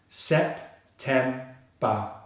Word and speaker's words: September: The second syllable, which is the stressed syllable, starts with the T consonant sound and the single air vowel as in bread, and finishes on the M consonant. Tem, tem. The final syllable is the same as all the final syllables on the remaining months, and it's very simple. It's just the B consonant sound and the schwa sound. Ba, ba. So we have all three syllables together. Sep-tem-ba. Sep-tem-ba.